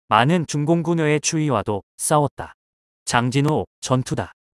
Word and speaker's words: 장진호: 중공군 의의 추위와 싸웠다 장진호 전투다 미국에선 일본식 지명 발음을 따라 초신 전투라 부른다 자유민주주의를 지키기 위한 혈투